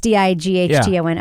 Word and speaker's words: Dighton: Is it pronounced Dighton, this town? Yeah. I've never even seen this. This is one of those towns that you know how to pronounce. I've never seen that town. It must be Dighton. It's Dighton. Okay.